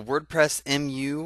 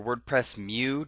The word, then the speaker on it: WordPress MU: right welcome to the WordPress mu or WordPress Mew depending on how you want to pronounce it you'll probably hear me say it both ways the uh the WordPress